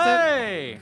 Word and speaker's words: Qubeley: I think it's supposed to be like Qubeley is how you're supposed to pronounce Kablay! Kind of bland.